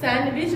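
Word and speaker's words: sandwich: हम सैंडविच बोलते हैं और सैंडविच लिखते हैं, है ना।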